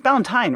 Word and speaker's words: Ballantyne: So if you go to Ballantyne, is it Ballantyne or Ballantyne? It's Ballantyne, right? Right, just like a holiday, but with a B and spelled different.